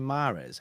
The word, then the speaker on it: Mahrez: You're supposed to pronounce the H in Mahrez. How do you spell? Mahrez. Mahrez. Riyad Mahrez.